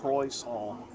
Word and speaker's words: croissant: Croissant. How do I say it differently? Croissant is how you say it.